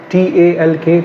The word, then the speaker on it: talk: least say talk so talk is the pronunciation which is required in the is speaking test to be correct if you say t